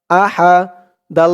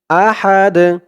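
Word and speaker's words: أحد: আ হা জবর হা আহা দাল দুই পেশ দুন আহাদ আহাদ এখানে অকফ থামার কারণে উচ্চারণ হয়েছে আহাদ দালের উপরে দুই পেশ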